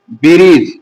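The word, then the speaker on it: bridge: আর যেখানে ডি এর পর জি থাকবে সেখানে ডিটা পড়া যায় না। তাহলে এটা কি পড়তে হবে? ব্রিজ। এটা ব্রিজ হবে। ডিটা পড়া যাবে না।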